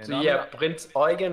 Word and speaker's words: Prinz Eugen: Yeah, So no, I yeah, mean, Prinz Eugen is the correct way to say there we it.